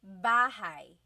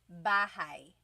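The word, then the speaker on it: bahay: You might notice that the spelling is a y at the end. So it looks like bahi, but it's pronounced bahigh. That ay combination is bahigh.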